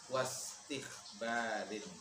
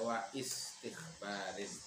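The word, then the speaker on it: واستخبار: Jadi cara bacanya di wasol, wastikhbarin. Jangan dibaca wa istikhbarin, itu kotok namanya.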